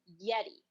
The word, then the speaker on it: Yeri: and they spell it yeti y-e-r-i yeti like it sounds in spanish well this this counselor